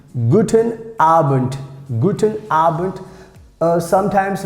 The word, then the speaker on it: Abend: very useful like guten abend guten arbent guten arbent uh sometimes like most of times we pronounce like t this d if it comes in the end so we pronounce like t guten arbent guten arbent